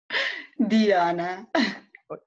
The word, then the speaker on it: Dijana: Dijana.